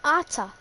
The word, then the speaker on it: Arthur: Atta. A-R-T-H. Atta. Brazilian. Oh, him! Oh, I thought it was a different person. No, he's Brazilian. I know. And they pronounce his name Atta.